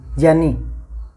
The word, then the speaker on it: ज्ञानी: इसका उच्चारण हमें ये करने लगे ये कालांतर में, जबकि ये सही जो है ना वो है जय, जग, जय आधा प्लस में ये ज्ञानी। हम क्या बोलते हैं? ज्ञानी, है ना। उच्चारण बदल गया इसका थोड़ा समय के साथ है, लेकिन ये सही